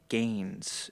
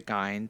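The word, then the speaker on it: Gins: And then the last two would be Gloria Gaines instead of Gloria Gyn. It's spelled G I N S but it's pronounced Gaines and then Brienne.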